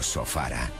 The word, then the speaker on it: Sofala: Creo que Ofir es Sofala o Sofara, cuyo nombre conocen y pronuncian así en el interior.